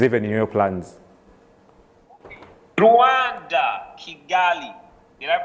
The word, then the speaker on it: Kigali: Rwanda, Kigali. Did I pronounce that well?